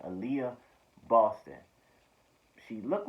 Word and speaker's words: Aaliyah: stop really uh uh i want to pronounce that right alaia aaliyah aaliyah why am i saying a liar aaliyah boston she looked like